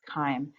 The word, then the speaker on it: chyme: C-H-Y-M-E. I know it looks like chime, but it's pronounced with a k, chyme.